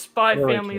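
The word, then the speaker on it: Spy × Family: is your name right apparently it's like spy family just like hunter hunter doesn't pronounce yeah yeah it's spy family like higher honor yeah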